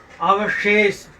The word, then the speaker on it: अवशेष: अगला है ये देखिए शब्द, इसका उच्चारण करिए। ये क्या है? स्वतंत्रता, स्वतंत्रता। अगला देखिए शब्द, ये क्या है? अवशेष, अवशेष, अवशेष।